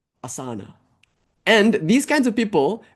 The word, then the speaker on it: Asana: And she pipes up and says, "Um, it's pronounced Asana."